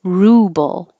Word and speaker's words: ruble: favorite movie this one ruble the vowel is ooh and you really round your lips ruble rubble ru you